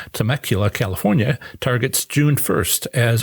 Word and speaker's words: Temecula: Worked hard on knowing how to pronounce that. Had to talk to a local. Temecula, California, targets June 1st as opening date.